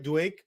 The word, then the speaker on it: Duake: So, Duake, am I saying it right? Duake. Yes, yes, yes.